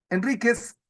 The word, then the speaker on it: Enríquez: Enríquez es una palabra grave. El acento es evidente, está en la penúltima sílaba.